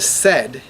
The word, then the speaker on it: said: So for example, the word said is not pronounced the way it sounds, which is S-E-D, right?